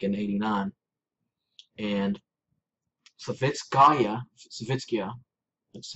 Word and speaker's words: Savitskaya: And Savitskaya, that's how you pronounce her name.